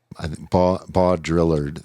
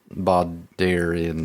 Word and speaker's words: Baudrillard: Well, how do you spell Baudrillard? It's spelled Baudrillard. It's like bow drill ard, Baudrillard. Baudrillard.